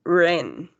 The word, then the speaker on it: ran: past simple will be ran. Okay, be careful with the pronunciation because in infinitive, well, in the present is I ran. But yesterday I ran. Okay, es una A y una E.